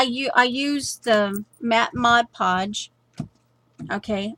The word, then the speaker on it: Mod Podge: now because I you I used the matte Mod Podge okay Maude I said it right mod podge so in